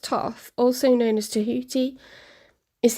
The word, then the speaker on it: Thoth: Thoth, pronounced Thoth, also known as Tahuti, is the ancient Egyptian ibis-headed god of writing, divine magic, and the moon.